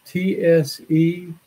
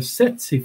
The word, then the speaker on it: tsetse: Now, most Americans butcher it. They call it a tsetse fly. But it's one of those interesting words from another language where you don't pronounce the T in this case.